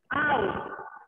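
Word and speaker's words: oar: here ostrich orange onion out okay more words no open orange ko hum pronunciation karte hain o theek hai r is silent chappu hota hai theek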